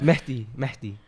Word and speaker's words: Mahdi: Help me out, bro, because I really like Mehdi. So you have to like let the H go. Yeah, and you Mahdi. also have to, instead of the A, like pronounce the A as an E, kind of.